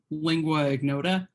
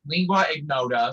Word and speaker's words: Lingua Ignota: Yeah, Lingua Ignota. Thank you. See, it's the lingua part. I feel like I want to add too many syllables in there. But yeah, Lingua Ignota, Sinner Get Ready.